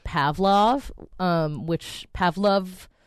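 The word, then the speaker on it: Pavlove: then a song called Pavlov um which Pavlov I never know how to say it cuz it's pav love with an e at the end oh pav I like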